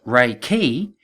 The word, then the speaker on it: Reiki: ancient power source and the name Reiki which is pronounced Reiki comes from the combination of two separate words firstly re which means